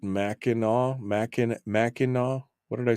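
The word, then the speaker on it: Mackinac: do you get maau I suppose the C is silent is it like the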